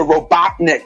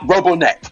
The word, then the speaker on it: Robotnik: you guys try myself it's dr. Robotnik not rubberneck but because of that